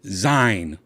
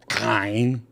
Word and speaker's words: Xine: So it would be like a Z. Zine. So, you know what? I'm good with Zine. Zine is cool. With an X, but it's pronounced Zine. Zine. Like xylophone. Right?